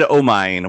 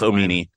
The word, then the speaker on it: Omine: I think we said Omine when it's Omine.